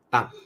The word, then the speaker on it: 当: 好，所以特别注意，今天我们看到这个字都要念 4 声的当。